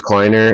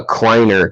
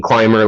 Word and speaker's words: Kleiner: um and it's uh p-r-i-n-z actually prinz and then uh kleiner k-l-i-n-e-r i know i i thought it was exactly how you spell it the prince like prince charming climber like hiking uh sword too uh